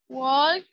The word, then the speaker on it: walk: Walk. Play. Walked. Sin la walk. L no se pronuncia.